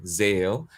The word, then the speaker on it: Xael: Yeah, I’ve got to know got to know Xael, and that's how you pronounce his name - Xael.